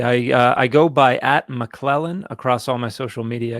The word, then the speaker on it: McClellan: consonants in a row so I started spelling my last name m-a-k-l-e-l-a-n so I'd say now can you say that and they say McClellan and I'd say perfect